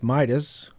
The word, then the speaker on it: Midas: Sidis, the name rhymes with Midas, was born a century ago on April 1st, 1898.